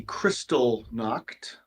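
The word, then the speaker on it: Kristallnacht: so I I just uh pulled up the crystal knocked it's not spelled the way I thought it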